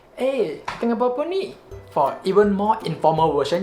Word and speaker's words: Tengah buat pe ni: The upper sounds like it blends together with the other words and then become, tengah buat apa ni?